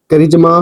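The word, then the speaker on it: charisma: तो कहने का अर्थ यह है कि इसका साउंड का निकलेगा। वह किस प्रकार से निकल? आप देख सकते हो। कैरेक्टर चरित्र हो जाएगा। करिजमा प्रतिभा हो जाएगा।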